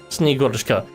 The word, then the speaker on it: Snegurochka: I looked it up beforehand, so I'm pretty sure it's Snegurochka. Although if you're pronouncing it like in like a sort of